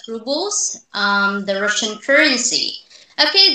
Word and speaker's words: rubles: employers give her 80 robles and tells her that she needs to stand up for herself okay so that's right and by the way it is pronounced as rubles um the russian currency